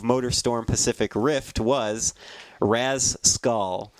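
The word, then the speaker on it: Rasecul: Storm Pacific Rift was Raz skull or as you as he actually spells it r-a-s-e-c-u-l so I would have said Rascal but that's not how uh that's not how Beast wants it pronounced he says thank you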